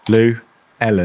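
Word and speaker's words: Llewelyn: Um, a guy named Len Luellen Lynn. Luen down phonetically. It's like two names. Lou and Ellen. Lu Ellen. Lou Ellen.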